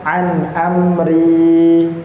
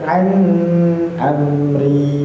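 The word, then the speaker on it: عن أمري: jelas ngih barakallah fikum maka bacanya jangan an amri salah nggih tidak seperti itu. Tapi bacanya an amri. Jelas di sana tidak ada ikhfa, tidak ada idgham. Dia termasuk ee yang jelas izharatanya jelas dan tidak pula dipanjang-panjangkan.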